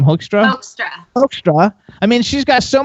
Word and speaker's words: Hoekstra: How do you pronounce his name? Hoekstra.